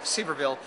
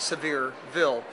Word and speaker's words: Sevierville: well you know Rick many people who don't know where Sevierville is Will pronounce it Sevierville on knowing that the first governor of the state of Tennessee was John Sevier and that's why they called it severe Ville anyway I'm from California